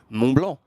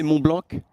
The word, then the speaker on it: Mont-Blanc: And for all of you, you know, if you nailed it, but the C at the end is silent. And if you say Mumblanc, he's like, "Oh, you're not from here."